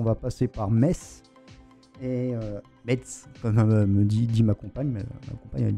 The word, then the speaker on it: Metz: On a une petite traversée du Luxembourg pour ensuite on va passer par Metz et Metz comme dit ma compagne, elle dit Metz, moi je dis Metz.